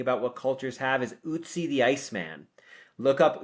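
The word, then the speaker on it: Ötzi: archaeology and thinking about what cultures have is Utsie the Iceman. Look up Usy the Iceman. It's spelled O TZI.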